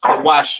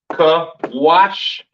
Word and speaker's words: Cush: Cush, pronounced Kawash in the Hebrew, all right?